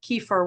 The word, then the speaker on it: kefir: And we have we call it kefir. We pronounce it kefir, but in the same kefir here. Um, or yeah, kefir.